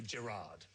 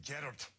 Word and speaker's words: Gerard: And in Scotland, they never say Gerard. No, they say Gerard.